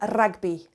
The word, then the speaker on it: rugby: I say hugar El ragby bi and notice that even though rugby is spelled the same as in English it's pronounced differently of course because the